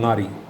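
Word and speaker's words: ngari: of fermented fish called nari nari is spelled n g a r e i or n g a r i there are some companies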